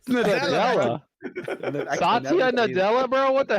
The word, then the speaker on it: Nadella: Sadella said. Sadella. When he said, Nadella.